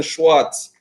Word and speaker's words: Schwartz: and everybody else who's listening who's who's schwartz i hope i'm pronouncing the surname correct hey you know what